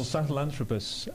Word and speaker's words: Sahelanthropus: mention this unpronouncable character is this sahal anthropus oh sahelanthropus uh yeah this was found in said that Qui he said it slowly Sahel anthropus found in the Sahel zone of Africa anthropus means uh man